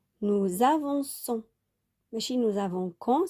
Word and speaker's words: avançons: Sinon, on va prononcer nous avons quand. D'accord? Parce que le O devant le C, ça se prononce K. Nous avançons.